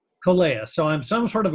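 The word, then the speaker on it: Kōlea: So when I'm there, we love our time with the Poipu Rotarians, and I always pronounce it wrong. So I'm a Kalea member. Kolea. Kolea.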